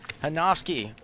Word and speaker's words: Hanowski: is now hanowski hanowski we're not going to pronounce this the American way we're going to do it the German Way hanowski with a small pair